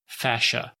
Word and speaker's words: fascia: also connective tissue and this is one you don't hear too much about fashio that's spelled FAS CIA which connects muscles to